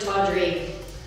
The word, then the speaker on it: Taudrey: Funny enough, it started as T period Audrey was how the original logo was. And just over the years, people just started pronouncing it Taudrey instead of T Audrey. So we dropped the period and merged the two together.